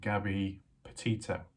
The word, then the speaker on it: Gabby Petito: Gabby Petito.